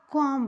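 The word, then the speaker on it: comb: चलिए देखिए लिखा है सी ओ एम बी कॉम लिखा है इससे देखिए तो बी को हम नहीं पढ़ते हैं इसमें हम कोम पढ़ते हैं सिर्फ कोम ठीक है लिखा भले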